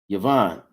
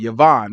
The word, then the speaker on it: Javan: Where it say Yavan or Javan, it's spelled with a J in the Bible, but it wasn't no J, so it would have been pronounced with a Y, Yavan, right?